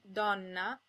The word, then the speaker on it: donna: Most of the time, O and E are pronounced closed. O as in ponte, and E as in nero. If the O or the E is in a stressed syllable, it's sometimes pronounced open, O as in donna, and E as in senza.